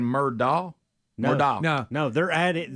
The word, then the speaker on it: Murdaugh: Do you think they're saying Murdaugh? Murdaugh. No, they're added. Because it's D-A-U-G-H. That's not Murdock.